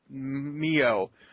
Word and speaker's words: MiO: I'm gonna support Lemonade Mayo because I've got a big glass of it right here and it tastes delicious. I think it's Mio, actually, not Mayo. Okay, fine. Mio.